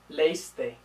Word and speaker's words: leíste: Now, the two form, leíste, we have the accent mark, because without it, it would just be leíste. And leímos, without the accent mark, would be leímos. Okay, so we have those accent marks to keep the extra syllable.